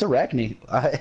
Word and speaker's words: Arachne: it incorrectly oh no you're right now it's Arachne I just wasn't looking at the name yeah